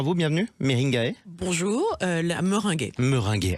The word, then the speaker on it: Meringaie: cofondatrice de Minguet on dit comme ça on prononce comme ça bonjour à vous bienvenue meringae bonjour euh la Mering meringué allez meringué c'est encore mieux et ça donne faim comme